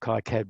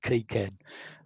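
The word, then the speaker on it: KiCad: i use cad i i call it kai-cad but um i found the correct pronunciation is actually key cad and i'm trying to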